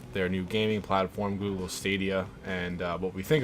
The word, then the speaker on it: Stadia: first first and foremost is it stadia or stadia I'm I'm 99% sure that Google themselves were pronouncing it as stadia okay um so right